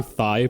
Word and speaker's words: Thai: Did you just say Thai place? Yes. It's pronounced Thai, Eric.